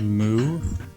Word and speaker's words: Mu: I think they're called moo. They're called what? Moo, like M-U.